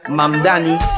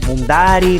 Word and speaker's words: Mamdani: Nueva York tiene un alcalde socialista y musulmán radical, Zoran Mamdani. Fíjense, nadie sabe pronunciar mi apellido. Que es admirado por Hezbollah y por Hamas. Es Mamdani, pero a cada rato me dicen Mundari, Mumnari.